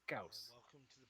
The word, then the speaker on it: Gauss: I mean, you kind of want to pronounce it the way the dude pronounced his name, and the dude was German, so it's Gauss.